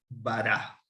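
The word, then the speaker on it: ברא: Bará. Bet, resh, y esta que es muda, la A está aquí. Bará. Aquí hay una vocal y aquí hay otra vocal y esta es muda.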